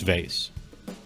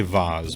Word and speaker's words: vase: data just for fun how do you pronounce vase it's vase you could say vaz but it's just not vaz it's vase that one's not up for debate or aunt it's aunt